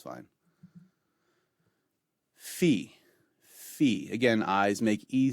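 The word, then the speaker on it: phi: salon or you salon either way it's fine fee fee again eyes make a sound so you pronounce this letter you the name of it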